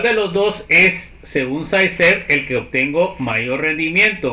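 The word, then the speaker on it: Zaitsev: Eso se pronuncia, por favor, Mildred. Saiced. Dígame. Saiced. Saiced. Ah, ok, Saiced.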